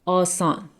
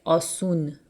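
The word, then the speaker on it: آسان: Asan. And in spoken Persian, we pronounce it asun.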